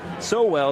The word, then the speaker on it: Sowell: Chase Sowell, it's pronounced.